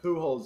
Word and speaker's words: Pujols: Is it like pools but spelled weird? It's P-U-J-A. Yeah. O-L-S. So it is actually pools. That's a rough name. Yeah, Pujols is funny. Pujols is funny.